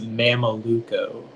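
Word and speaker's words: mameluco: 161 all right okay uh your word is mama luco can you repeat the word uh the word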